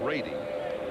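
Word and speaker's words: Brede: Brent Brady. He likes to pronounce it Brady.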